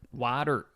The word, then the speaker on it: Wyatt Earp: Wyatt Earp.